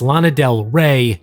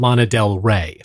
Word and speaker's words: Lana Del Rey: Make sure you don't mispronounce it by the way, it's Lana Del Rey, not Lana Del Rey.